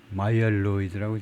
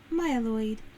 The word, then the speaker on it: Myeloid: 그래서 발음은 어떻게 되느냐. 발음 기호를 보면 마이얼로이드라고 되어 있네요. 마이얼로이드. Myeloid. 마이얼로이드. Myeloid. Myeloid. Myeloid. 마이얼로이드라고 발음합니다. Myeloid.